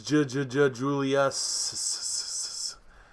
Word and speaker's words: Jjjuliuss: This is Jjjuliuss. I say it like the Genesis song.